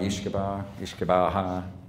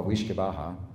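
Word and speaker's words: uisce beatha: It's interesting, and the reason I include it, because we think the way it's pronounced, the first part of it is ish or weesh, depending upon what dialect you're calling, and we think that word became whiskey.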